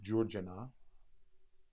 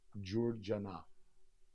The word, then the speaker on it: Curcena: in the rhythm of Georgina, spelled C-U-R-C-E-N-A. And the reason why it's spelled C-U-R-C-E-N-A, because in Turkish, C's are pronounced as J, Georgina.